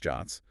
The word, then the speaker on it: JWT: JWTs, pronounced JOTs, are often used as the format for the access tokens that OAuth 2.0 issues.